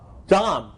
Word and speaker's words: DOM: go-between search of the d rhymes with arm Dom right some of you